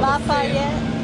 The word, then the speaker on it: Lafayette: which do you like how do you pronounce it Lafayette I call lafette laf La this is